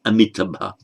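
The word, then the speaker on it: Amitābha: Amita, as in Amitabha, often pronounced as Amitabha, it's Amitabha. Amitabha, unmeasured light.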